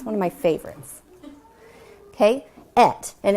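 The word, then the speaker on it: את: Okay, et. And it's spelled Aleph and Tav.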